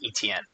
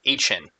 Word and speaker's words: Etienne: Now, I thought his last name was pronounced Etienne, but he just did a interview that is him pronouncing his name, and it's more like Etienne.